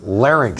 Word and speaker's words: larynx: it's over nice learning quietly it's no it's pronounced larynx no no if you don't larry larry thing